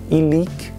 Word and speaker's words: illic: São as palavras oxítonas, como exemplo, illic e nihil.